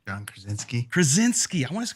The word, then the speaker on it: Krasinski: I can never pronounce his last name. John Krasinski. I want to call him Kraviatsik, like Chantel for some reason.